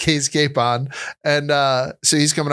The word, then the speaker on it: Capon: I've been calling him Josh Capone. Oh god. Like Al Capone. Yeah. Yeah. So he's Cape on.